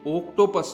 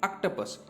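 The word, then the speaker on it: octopus: आप याद रखें कि इसकी जो प्रोनाउंसिएशन है ये ओक्टोपस नहीं है, इसको हम प्रोनाउंस कर रहे हैं ऑक्टोपस, इसलिए यहाँ पर इसको बोलेंगे हम शॉर्ट वावल।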